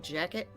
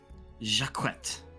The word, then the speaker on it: Jacquette: Like jacket? No. Jacquette.